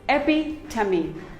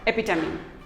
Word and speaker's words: epitome: none of them is correct it is simply pronounced as very epitome it is not epitome it is epi tummy epi tummy epitome we all have a friend who is an